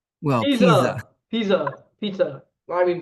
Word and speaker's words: Pisa: Oh my goodness, it's an Italian person near the Leaning Tower Pizza. well, Pisa. Pizza. Pizza. Pizza. I mean pizza. Yeah, Pisa.